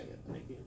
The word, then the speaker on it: eponychium: will have to say eponychium. So practice writing it out, right? Not cuticle. How do you say it? Eponychium. Epo. Nick. E-M.